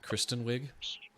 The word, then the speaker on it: Kristen Wiig: full like song uh Kirsten wig or I think that's how you say her name right Kristen or Kirsten Kirsten Kristen Kristen yeah Kristen Wiig um she does a